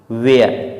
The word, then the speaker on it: where: Next word हमारे पास दिया हुआ है WHERE, वेयर, इसे हम वेयर नहीं वेयर पढ़ते हैं क्योंकि यहाँ पर एच साइलेंट होता है। डब्लू के बाद एच आ रहा है, इस कारण से एच साइलेंट हो जाता है।